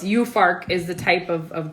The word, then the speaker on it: Juhfark: so it's spelled like jew farc but it's pronounced you for you farc so this is i'm probably mispronouncing it some loy vandor so forgive that's that's the name of the white winery yeah and it's you farc is the type of of grape yes and